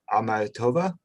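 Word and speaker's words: Akhmatova: Could you speak a little bit about why Mayakovsky and," I hope I'm not slaughtering this word, but "Amatova?" Is that how you pronounce it?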